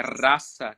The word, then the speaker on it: rasa: originalmente em sânscrito inclusive é rasa né que a pronúncia certa raça que em sânscrito está